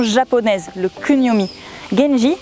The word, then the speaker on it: Genji: Genji, c'est la prononciation chinoise en onyomi, genji.